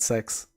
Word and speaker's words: CeX: c c e x they actually pronounce it sex which is kind of weird that's what their ads say um but yeah cex